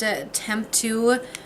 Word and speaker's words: Temptu: going to take this I think it's pronounced attempt to UM primer I got